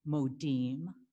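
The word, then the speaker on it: מודים: see the modim so the i is pronounced e modim the a's are like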